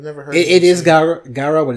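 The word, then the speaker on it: Gyaru: it's a whole Garu, yeah, but I don't know how to pronounce it. I've never heard it. It is Garu, but it's also Gangoro.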